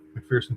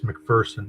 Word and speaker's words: McPherson: I don't know about McPherson County Sheriff's Office. Uh boy, I'm pronouncing that wrong, aren't I? It's McPherson. I'm I'm Cuz there's no fear in McPherson.